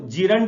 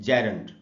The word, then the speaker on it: gerund: अच्छा दोस्तों, मैं आपको थोड़ा सा प्रोनाउंसिएशन बता दूं, इसको जीरंड नहीं बोलना चाहिए, इसका जो करेक्ट प्रोनाउंसिएशन है वो है जेरेंट।